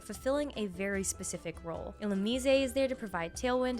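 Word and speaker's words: Illumise: Ilmise is there to provide tailwind and encore support.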